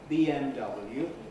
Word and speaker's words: BMW: consisting of three items bmw we tend to put an accent on the first and the last of the three items but not on the middle one so every time we